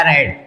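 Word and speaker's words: read: इसके बाद लिखेंगे क्या, कार्य क्या है, पढ़ना, पढ़ना, तो ये रेड का सेकेंड फॉर्म क्या हो जाएगा, रेड। स्पेलिंग वही रहेगी, रेड पढ़ा जाएगा।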